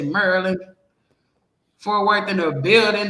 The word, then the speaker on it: Maryland: They don't say Maryland. They say Maryland.